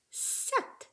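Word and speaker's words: sept: 7. Oh, we don't even say that P. Just like in our number 8, we have all those letters we don't pronounce.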